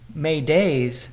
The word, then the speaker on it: Mayday: call for help comes from a French word may days meaning help me and it is pronounced approximately Mayday I thought there was some